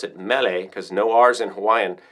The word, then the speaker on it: Mele: means Mary I guess CU Hawaiian would say melee like Mele Kiki Maka um but they um yeah they pronounce it melee because no RS in Hawaiian anyway that's a